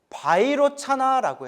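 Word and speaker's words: वैरोचन: 비로자나를 인도 산스크리트어 원음으로 바이로차나라고 해요.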